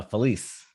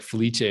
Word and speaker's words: Felice: do you pronounce it uh felice police oh man i thought it was like felicia or something special but felicia is